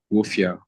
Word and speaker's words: Wolfia: not got and also the pronunciation of the studio name is not W it's wolfia okay wolfia yeah yes thank you